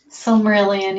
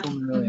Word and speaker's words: Silmarillion: I think they have another Silmarillion. Is that how you say it, Becca? Silmarillion, yeah. Silmarillion.